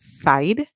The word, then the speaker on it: side: reside all right so now we hear s i d the e at the end is silent so we hear the I make a long song I all right so the